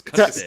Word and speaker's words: Castig: It's Castig. Castig. Emphasis on the Casting. tig.